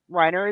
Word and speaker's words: Rainer: starts out speaking German Reiner Riner is German yeah Riner sorry I